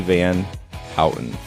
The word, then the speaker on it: Van Houten: Van Houten.